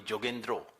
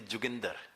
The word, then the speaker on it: Yogendra: he would not like bengalis do not call me yogendra bengalis call me jendro and the Punjabi pronunciation of my name is jender so he would just